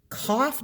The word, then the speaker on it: cough: that rhymes with it does cough rhyme with tough no it does not tough sounds like uff uff this sounds like off off cough does not rhyme with